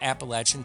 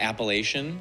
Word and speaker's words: Appalachian: Making it worse, in that Appalachian Facts video, I go into great depth about the different ways Appalachia is pronounced and how everyone thinks the way they say Appalachia is the right way.